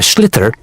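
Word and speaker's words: sliotar: And basically, you have to get this ball called a schlither. That's s L I O T A R. So, it's not spelled the way it's pronounced.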